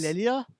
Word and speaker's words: D'Elia: a person goes down, but there's all these Delia? Or is it other people that don't go down. How do you say the damn name? Delia? It's like Del- Delio, except Delia.